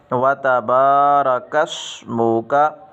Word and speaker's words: وَتَبَارَكَ اسْمُكَ: کو چھوڑ دیں گے، یا را کے بعد الف بڑھا دیتے ہیں، یہ غلط ہے، بلکہ ایسا پڑھیں گے۔ صحیح تلفظ یہ ہے وَتَبَارَكَ اسْمُكَ، وَتَبَارَكَ اسْمُكَ۔ اس کو اکثر نمازی